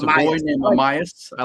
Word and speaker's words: Amayas: Uh Amias. Amas. Amaya with an S. Amias.